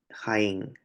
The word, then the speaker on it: Jaén: Aquí lleva tilde ya de acuerdo a las reglas generales de acentuación, porque Jaén es una palabra aguda, ¿no?